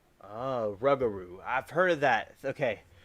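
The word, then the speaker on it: rougarou: And I've said this a long time now, and Gam is telling me the right pronunciation. If you want a Louisiana cryptid, look up Rugaroo. Rugaroo.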